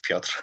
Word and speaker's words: Piotr: Okay, so thank you, Mike, for the pronunciation. This is Piotr, actually.